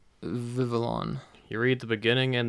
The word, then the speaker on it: Vivillon: So I mispronounced Vivillon last time. I always think it's Vivillon for some reason. That just sounds like a better name to me, I guess. But it's Vivillon.